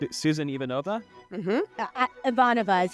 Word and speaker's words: Ivanova: Ivanova is how they say it.